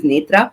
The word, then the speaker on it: Nethra: It's quite difficult to pronounce uh for everybody. So I my preferred name is Nitra and especially there's one uh funny thing about